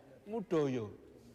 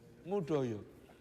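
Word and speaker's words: Moedojo: besar UGM namanya Profesor mudoyo ketinggalan pesawat di bandara Don Muang Kenapa karena tidak merasa dipanggil soalnya tulisan namanya itu ejaan lama Moe Dojo tulisannya Moe Dojo bacanya mudoyo mudoyo nah dia itu di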